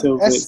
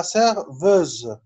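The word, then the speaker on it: serveuse: اوكي لا سيرفيز اي سيرفوز، فوسي ان كافي لا هنا اس سيرفيز ده نطقه زد، سيرفوز سيرفيز اي فوسي ان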